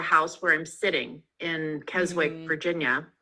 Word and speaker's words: Keswick: where I'm sitting in Keswick, Virginia. I was wondering if you were going to say Keswick, as the Brits do, or Keswick, because there is actually a Keswick, England. Did I say it properly?